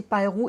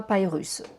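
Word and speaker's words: Piru: Et le gang c'est Pyru et pas Pyrus.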